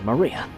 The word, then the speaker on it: Maria: is written like this of course this is pronounced Maria the third character looks like cross which is